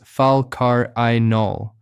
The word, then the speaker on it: falcarinol: The most studied one is called falcarenol pronounced falcarol.